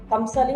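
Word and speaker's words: Kamsale: I think it's called the Kamsali, am I pronouncing it right? Absolutely.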